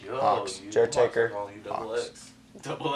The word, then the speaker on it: Jertaker: Wait, so is Gauxx pronounced with a silent G and the sound of an H. Yo, Hawks. Jertaker.